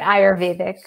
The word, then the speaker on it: Ayurvedic: Shivani Gupta is an Ayurvedic practitioner. Am I saying it right? Yeah, I say it Ayurvedic.